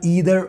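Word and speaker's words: either: हैं, फिर है हमारा ईदर और या फिर आइदर और, दोनों में से कुछ भी पढ़ना है, टेंशन नहीं लेने का, प्रोनाउंस कैसा भी कर सकते हैं, ईदर पढ़ो या आइदर पढ़ो।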